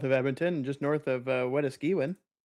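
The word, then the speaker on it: Wetaskiwin: There's a good hailer south of Edmonton, just north of Weskiwin. Oh, yeah. Okay. Spell that for me without looking at it.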